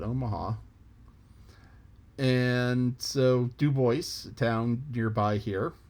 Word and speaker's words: Omaha: live and you know if you live uno maha you get upset if people don't call it omaha so dubois town nearby